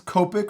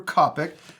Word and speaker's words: Copic: We've been using 3 different brands, Copic or Copic. I've heard it said both ways.